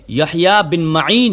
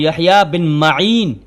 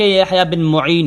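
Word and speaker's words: یحییٰ بن مَعین: تو یہاں سے یہ بات واضح ہو گئی کہ درست تلفظ جو ہے یحییٰ بن معین ہے. درست تلفظ جو ہے وہ یحییٰ بن معین نہ کہ یحییٰ بن معین ہے.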